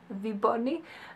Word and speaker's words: Vébonnie: caught of you Bonnie it sounds French to me but it's not a French company and such a spell ve b or and and i we say it like movie Barney v Barney I think it's really